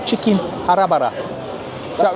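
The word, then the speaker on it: Hara Bhara: Right, I've just asked what this one is, and it was the one with the very strange name, Chicken Harabara. Is that right? That's good pronunciation, yeah.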